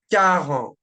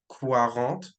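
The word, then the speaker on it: quatre: then we have car again remember like I said last video make sure you don't pronounce the Kant like Quant right with the qu it's just car okay car moving on now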